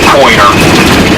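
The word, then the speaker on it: Poyner: We pronounce it Pointer, but in the old island vernacular, just like Smith's Island and Wallops Island and Tangier Island, all there in the Chesapeake, they have their own little vernacular.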